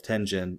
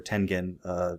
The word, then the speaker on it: Tengen: So that's how Atari, under the label of Tengen or Tengen, I've heard it pronounced both ways. I think both are, acceptable.